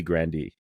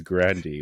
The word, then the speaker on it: Grande: called it Grande cuz that's just how we pronounce it but it's really Grandy oh yeah it's Grandy but everybody calls it Grande obviously because it's